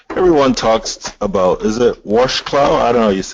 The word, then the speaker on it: Wrocław: Yeah, Wrocław. So it's like, Wrocław, yeah, yeah. the W becomes a V, and then the little like L thing becomes like a R.